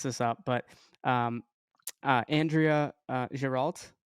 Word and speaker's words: Giralt: I might mess this up, but um, Andrea Giralt. Did I say it wrong? Perfect. Andrea Giralt. Yes, perfect.